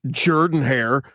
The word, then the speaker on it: Jordan-Hare: It's Jordan-Hare, because Jordan.